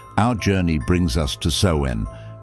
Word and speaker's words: Samhain: Finally, our journey brings us to Samhain, pronounced Soen, celebrated on the 31st of October.